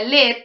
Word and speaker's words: lead: digital bueno esta palabra lead tiene varias acepciones si se pronuncia led es plomo sí Y acá en